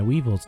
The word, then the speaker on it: Weavile: Pretty sure it's pronounced Weevil. I think people have told me it's pronounced Weevil, but Like I'm always going to pronounce it Weavile.